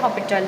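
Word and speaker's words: L'Hôpital: Spelling कुछ इसकी हॉस्पिटल की तरह होती है, बट इसे हॉपिटल पढ़ते हैं।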